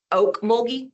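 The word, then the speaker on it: Ocmulgee: And just so you know, um the word is oak moldy, like oak tree.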